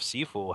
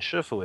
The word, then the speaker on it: shifu: to this word itself sifu has a two is cantonese pronunciation shifu is the mandarin pronunciation and the character for